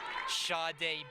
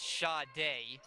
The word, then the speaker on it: Sade: Sade Bird, as I mispronounced it before, it is Sade.